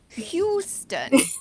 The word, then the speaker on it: Houston: Houston. Like the train station in London. Houston, but with a H.